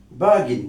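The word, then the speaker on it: bargain: আপনি একজন ব্রিটিশ স্পিকারকে বলতে শুনবেন বাগিন অর্থাৎ আর বলবে না। ব্রিটিশ স্পিকাররা প্রায়শই শব্দের মাঝখানের এবং শেষের আর সাউন্ড গুলো উচ্চারণ করেন না।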